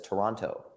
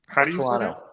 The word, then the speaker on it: Toronto: Toronto because he says Toronto. Because I pronounce the T's. I'm from Connecticut. I enunciate everything. How do you say Toronto? Toronto? Toronto. Yeah, as if there's no second T.